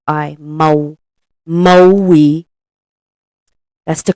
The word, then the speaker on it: Maui: that's the ISA of Mai and it's not pronounced Ma Moi it's pronounced moi moi m a u i Mo Moi that's the correct pronunciation and we lived in